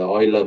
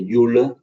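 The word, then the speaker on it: Euler: using uh 4.1 is a Oiler method or you say uler some say Oiler and then hum's method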